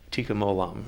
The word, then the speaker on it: tikkun olam: This tikkun olam, is that the way you say it? Tikkun olam.